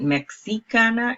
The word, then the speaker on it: mexicana: pronounce the excess and mexicana it is more of a J or an H for English sound it would be mexicana